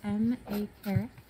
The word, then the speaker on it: M.A. Carrick: But we are here to celebrate The Mask of Mirrors by MA Carrick. And did I pronounce that correctly?